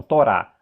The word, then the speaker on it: Torá: Torá. Torá termina com o re, por isso que é pronunciado Torá.